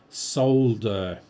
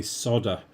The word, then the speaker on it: solder: But, he did a um a short on how to pronounce solder with an L. A lot of Americans just say solder and leave the L out.